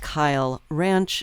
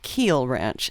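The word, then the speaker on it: Kiel Ranch: Actually, it is pronounced Kyle Ranch, not Keel Ranch.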